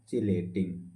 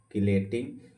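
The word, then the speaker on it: chelating: Ligand के साथ साथ इसी को बोलते हैं चिलेटिंग, इसी को बोलते हैं नॉर्मल भाषा में किलेटिंग। किलेटिंग चिलेटिंग according to pronunciation से पढ़ते हैं।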